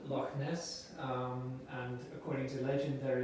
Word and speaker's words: Loch Ness: pronounce it well uh according to the local pronunciation this would be like scottish gaelic so it would be lock but british people british